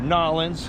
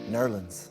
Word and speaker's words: New Orleans: We're on the beach on the south coast in Biloxi, Mississippi, which is probably way cooler than New Orleans or Nolans. Or as it's correctly pronounced, Nerlens. Nolan.